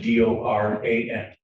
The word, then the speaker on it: Doran: spelling on the last name is and it's pronounced Doran.